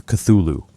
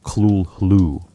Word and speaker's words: Cthulhu: Consider Cthulhu. Lovecraft said it should be pronounced something like Cthulhu, but he noted that human vocal organs couldn't quite produce the sound correctly.